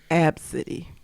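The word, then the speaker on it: Abcde: B CDE e and the mother pronounces it absity yeah the mom was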